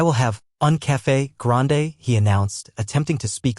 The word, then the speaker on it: un café grande: Just so you know, the correct way to say that is un café grande, with the emphasis on the E at the end."